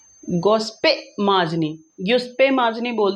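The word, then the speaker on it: Giuseppe Mazzini: अगर इंग्लिश में प्रोनाउंस करेंगे तो जिप्सी माजनी होगा, और इटली में इटालियन, ये इटालियन वर्ड है, तो गुप्से माजनी आपको इसको पढ़ना पड़ेगा। That is अप टू यू, आप इसको कैसे पढ़ने वाले हैं, इंग्लिश में प्रोनाउंस करने वाले हैं या इटालियन में प्रोनाउंस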